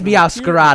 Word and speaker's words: Meowscarada: Ah, it is Meowscarada.